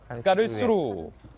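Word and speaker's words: Karlsruhe: 그런데 정유라 씨가 기존에 살고 있었던 주소지에서 어딘가로 이동해서 몸을 은신하고 있는데, 그곳이 독일의 칼스루라는 소도시인 것으로 한 언론이 보도를 했습니다. 지도 한번 보실까요? 까르스루, 뭐 이렇게도 발음을 합니다만, 프랑크푸르트 남쪽, 남서쪽에 위치하고 있습니다.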